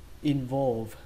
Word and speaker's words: involve: Ở đây các bạn hãy xem như âm e nó không tồn tại, hãy chú ý âm v thôi. Âm đầu tiên các bạn đọc là in, là các bạn lấy chữ máy in ở trong tiếng Việt, lấy chữ in đó và các bạn thêm dấu huyền cho nó để cho nó xuống giọng, in.